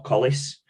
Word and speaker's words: Collins: So Burnley have signed a centre half in Collins or Collis, however you pronounce his last name. I think it's Collins, isn't it? Yeah, it's Collins, mate.